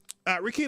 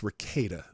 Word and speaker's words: Rekieta: I keep saying Rakita. It's Rakita. I'm saying it wrong.